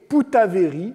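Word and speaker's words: Poutavéri: il échange son nom se faisant appeler désormais poutaverie ce qui est la prononciation à la tahitienne de Bougainville même si celui-ci d'ailleurs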